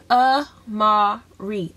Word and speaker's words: Amarie: It is Amarie. Amarie. And a lot of people ask me or, and yeah, that's just how you say it.